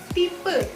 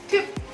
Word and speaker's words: Typ: Tapi Y yang fungsinya sebagai huruf I itu dibacanya U. Jadi kayak huruf Y ini kan Y. Y. Contohnya adalah di sini tipe. Bahasa Jerman adalah Typ. Typ. Nah, jadi bukan tip tapi Typ.